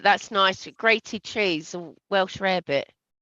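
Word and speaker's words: Welsh rarebit: nice grated cheese and Welsh rare bit did you just say Welsh rabbit no not rare rabbit rabbit different it's you can either use HP brown sauce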